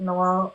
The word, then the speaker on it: Noir: I'm not that familiar with you yet, Noir. Is it Noir? Do you pronounce it Noir or Noir? Yeah, it's like the colour black noir.